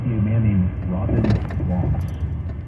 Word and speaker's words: Vos: So So that would be a man named Robin Voss, rhymes with boss, has said that DEI, which in most places, including Fresno, stands for diversity, equity, and inclusion.